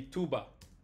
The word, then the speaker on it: tuba: And the B is a little less. I'm pronouncing it too much. It's more like tuba, tuba, like that.